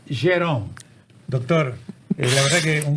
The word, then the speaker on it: Gerome: La verdad que es un gusto grande tener a quien fuera juez, el doctor Eduardo Jerome, porque así se pronuncia, porque hay algunos colegas que le dicen Jerome, no, es Jerome.